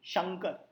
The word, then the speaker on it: शंकर: अब उसमें से र हटा दीजिए, शंक। और फाइनली क हटा दीजिए, शंग। अंग। शंग अंग। शंकर। शंकर अंग। ये जो अंग आ रहा है ना, यही उसका उच्चारण है, ये समझ जाइए।